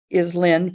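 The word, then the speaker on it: Lähn: But the original town name for that that I found in the Myers Gazetteer is Len, Prussia, which is L-A umlaut H-N, Prussia. So it's spelled differently, pronounced the same.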